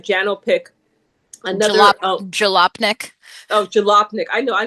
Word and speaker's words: Jalopnik: person in Canada, More Than Bikes, that website, Janopic, I think I'm saying it right, Janopic, another, Jalopnik.